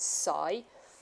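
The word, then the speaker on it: ψ: so this letter here it's a Greek letter and we pronounce it Sai and water potential is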